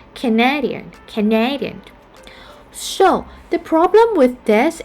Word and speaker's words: Canadian: And another example like Canada. But when it turns to the adjective, we tend to have the second syllable stressed, like Canadian.